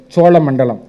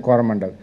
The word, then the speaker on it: Coromandel: So the whole area was called as Chola Mandalam. The Portuguese could not pronounce the word Cholamandalam, become Choramandal, then Coromandel. Coromandel is nothing but Cholamandalam.